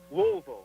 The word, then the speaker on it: Louisville: Louisville. You got to pronounce it right, yeah. Louisville.